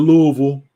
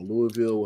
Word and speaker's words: Louisville: But going to Louisville, or Louisville, however you want to pronounce it, it's gonna be